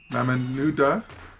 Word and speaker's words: Mamanuca: This week we're exploring the Mamanuca archipelago. The local Fijians tend to call it Mamanuca. They sometimes change the way things are pronounced just because it sounds better.